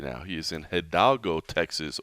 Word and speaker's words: Hidalgo: now he is in hiago Texas or as I've been told to pronounce it right Ido Texas but th scen goes